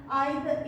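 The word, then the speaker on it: either: लेकिन आइदर में भी देख लेंगे ऐसा, आइदर, इधर गर्ल, या कई लोग इधर बोलते हैं आइदर, हम लोग शुरू से आइदर पढ़ चुके हैं तो हम आइदर प्रोनाउंसिएशन करते हैं, ठीक है ना।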